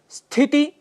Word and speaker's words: स्थिति: उच्चारण कर बैठते हैं स्थिति स्थिति इसके लिए स्थिति शब्द का प्रयोग करते हैं जो गलत है स्थिति यह इसका शुद्ध उच्चारण है मित्रों प्रादेशिक भाषाओं